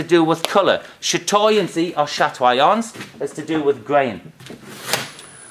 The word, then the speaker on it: chatoyance: We pronounce it chatoyance or chatoyancy.